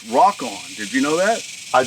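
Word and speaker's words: Rokon: about that Ron yeah I think the correct pronunciation of that is rockon did you know that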